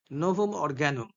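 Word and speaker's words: Novum Organum: Atlantis that is another, নোভম অর্গানুম বা নোভাম অর্গানাম ইংলিশে উচ্চারণ করলে, ল্যাটিনে করলে ইউ গুলোকে উ ভাবে বলে।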